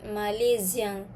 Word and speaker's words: Malaisien: Okay, pronunciation pun lain. Kita sebut Malaisien. Je suis Malaisien.